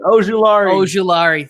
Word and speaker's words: Azeez Ojulari: I needed the pronunciation. Ojulari.